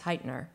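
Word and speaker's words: Hytner: And for Winter's Tale, you actually had help from Nicholas, I always mispronounce his name, Nicholas Heitner, yes, right, who has been director of the National Theater.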